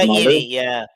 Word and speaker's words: Ragaini: Ra- Ragaini, according to his mother. Ragaini, yeah.